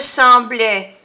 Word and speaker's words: semblait: Or, mon petit bonhomme ne me semblait ni égaré, ni mort de fatigue. Ne me semblait es à l'imparfait. Termina por A-I-T. Semblait, y se pronuncia E, E, semblait.